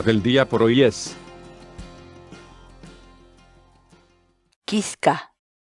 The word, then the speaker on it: kiska: de videos en la que te enseñamos a pronunciar algunas palabras en quechua Así que nuestra palabra del día por hoy es quisca quisca la palabra quechua en español significa espina por